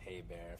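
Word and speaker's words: Hébert: and by the way my last name is pronounced hey bear if you care yes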